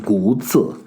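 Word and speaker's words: 古迹: So the Chinese have a concept of old traces, and it's kind of frustrating for me to read it because it should be pronounced Guzi.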